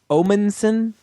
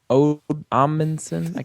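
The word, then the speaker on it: Omundson: He's played by actor Timothy Omenson. Omanson. It's hard to pronounce.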